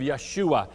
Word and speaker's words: Yeshua: you a little history about this name of Yeshua as it would be pronounced in in the Hebrew language sometimes in